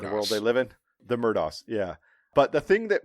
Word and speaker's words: Murdaugh: name, and it's spelled, unequivocally spelled Alex Murdaugh, and they pronounce his name Alec Murdoch, and it drives me fucking crazy. And I want to scream every time somebody says Alec Murdoch.